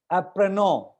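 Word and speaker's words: apprenons: And now I am coming to apprenon. Apprenon, देखो आप apprenon में लास्ट का n और s साइलेंट है.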